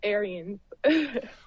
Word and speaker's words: Ahrens: that's all right Dennis it's Aryan oh so the E is pronounced it's very sweet of